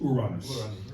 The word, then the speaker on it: Uranus: So I like um when I think about it, which is not always to pronounce it the way it's pronounced in Spanish, which is Uranus.